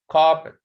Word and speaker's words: carpet: So the rule says in two syllables nouns, the first is normally stressed, like in carpet. Okay, so the stress is here at the first syllable.